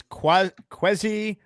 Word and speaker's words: Kwesi: Namar writes in, pronounce is Kwesi Adolfo Mensah. You can call him Kwesi. Kwesi, that's what it was.